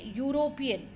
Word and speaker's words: European: city now see students again European it is making a consonant sound you starting with y therefore a European not and